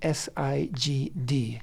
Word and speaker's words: Sigd: You can spell that S-I-G-D, Sigd, which is an old Ge'ez word.